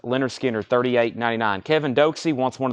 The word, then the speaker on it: Lynyrd Skynyrd: gatefold this is 38.99 Lynyrd Skynyrd pronounced Leonard Skinner 38.99 Kevin doxey wants